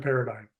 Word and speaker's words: paradigm: Now, paradigm is not the easiest word to spell. If you were to pronounce it the way it's spelled, it does not sound like paradigm.